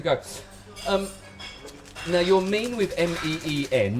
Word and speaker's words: Meen: M-E-E-N. That's how I spell it.